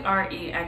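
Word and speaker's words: Reina: years now okay so she may spell it R E I N A yeah but it's really re n that's what I have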